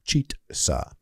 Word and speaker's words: Chizza: che sandwich at KFC is uh and it's pronounced cheeta they say uh it's just two pieces of